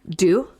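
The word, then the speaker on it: deux: first theory is how do you say that do volley do right yeah d-e-u-x yes it's french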